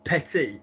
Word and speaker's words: petit: They're just words that are commonly mispronounced, like, because commonly what happens is premier, as we've just seen, or dernier, or petit, and it's not. It's premier, première, dernier, dernière, petit, petite.